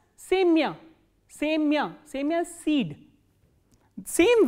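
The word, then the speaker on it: семя: The same way, sa, ye, ma, ya, and the stress is on ye, not on ya. So, ya is in unstressed. So, what happens is it is pronounced as semya.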